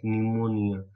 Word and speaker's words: pneumonia: P is silent, so you can just pronounce pneumonia.